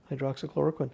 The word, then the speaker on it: hydroxychloroquine: even say the hydroxah how do you say it hydroxychloride droxychloroquine yeah i got it right hydroxychloroquine don't even say that